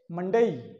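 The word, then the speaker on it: Monday: यहां डी ए और वाई, और इसे बोलेंगे मंडे, मंडे सोमवार, मंडे मंडे। वैसे तो अपन मंडे ऐसे बोलते हैं, परंतु ये उच्चारण सही नहीं है।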